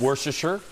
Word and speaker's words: Worcestershire: How do you pronounce this? Worcestershire.